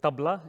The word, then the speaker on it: tabla: These drums, it's a set of drums called Tabla. In India, I would pronounce them as Tabla, but generally when I travel around the world, I call them Tabla because that's how it's spelt in English.